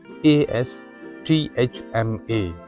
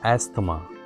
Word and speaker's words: asthma: A s t h m a. This is not amma. This is asthma.